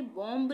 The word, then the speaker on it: bomb: बॉम्ब नहीं पढ़ेंगे, बी का उच्चारण हम करेंगे ही नहीं, यानी कि बी चुप रहेगा।